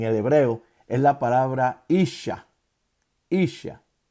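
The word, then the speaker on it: איש: La palabra varona para, en el hebreo es la palabra isha. Isha. Y se escribe I-S-A-H. S-H-A. Repito, la palabra para varón en hebreo se llama isha.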